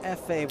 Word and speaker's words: Efe: Maria, you and I have been around enough Spanish to know Efe rhymes with jefe, which means boss, and this dude plays like one.